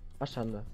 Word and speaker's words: Ashanda: Ashanda oder Achanda? Ja, Ashanda. Ashanda YouTube.